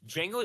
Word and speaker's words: Django: It's It's Django. Django. The D is silent.